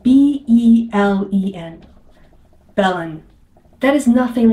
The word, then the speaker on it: Belen: Our town was named Belen for a reason, because our founders wanted it to be named after Bethlehem.